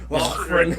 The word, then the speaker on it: Laughren: Like, that's how you spell it. He's got a nice strong H in there.